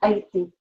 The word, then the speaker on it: Haití: Es una isla con Haití. ¿Haití? ¿Qué es Haití? Haití. Haití. Haití. Es una isla. Haití. Es silente, sí, es silente.